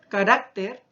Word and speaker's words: carácter: damos cuenta, en regímenes, la posición de la sílaba tónica. No se están tildando las mismas. Ahora si yo digo carácter, ¿cierto?, pero al decir caracteres, también ya no se ha tildado.